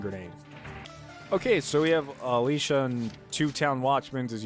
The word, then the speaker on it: Alicia: they in the game they all kind of say her name like Alicia but it's Alicia and now it's getting